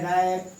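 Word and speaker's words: wrap: जब भी आर के पहले W के प्रोनाउंसिएशन, जब कभी भी आर के पहले W आता है, आर के पहले W आता है तो W का प्रोनाउंसिएशन नहीं होता है, साइलेंट हो जाता है। आपका यह है रैप, यह है रिंग, यह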